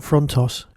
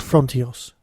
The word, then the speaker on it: Frontios: to be talking about fronos except it's not called fronos is it it's called frontios and I've been mispronouncing